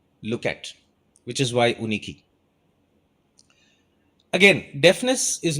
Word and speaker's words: Yunikee: years ago it's called uniki Uh while it is spelled Yu n i ke e uh we SP we pronounce it uniki right uniki in some